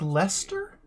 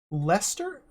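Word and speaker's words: Leicester: luck that's just pronounced Lester Lester is the the I and the C and the second e just silent Lester okay I had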